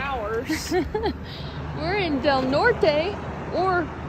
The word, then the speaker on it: Del Norte: We're in Del Norte, or pronounced Del Nor. Don't say the T or the E.